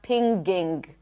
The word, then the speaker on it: pinging: It's not pinging. There is no G.